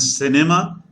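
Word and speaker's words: cinéma: have the rules here c plus e and i is what gives a sound of s like say it is say is what it is in english and cinema okay cinema is what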